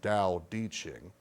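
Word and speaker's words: Tao Te Ching: it looks like t t Ching but it's pronounced da ding and there are people who are into that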